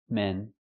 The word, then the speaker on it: men: One man and two men. Use the short s sound like red and 10. Men.